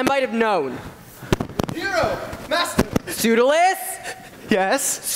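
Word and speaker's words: Pseudolus: have known hero Master sudal yes pis pronounced perfectly you know sometimes people say pudus and I hate that hero hero go show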